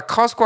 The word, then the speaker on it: Costco: T발음 안 하는 거. 그래서 커스카라고 오늘 좀 이야기를 하도록 하겠습니다. 자, 커스코 하면 진짜 좋은 물건들이 참 많이 있습니다.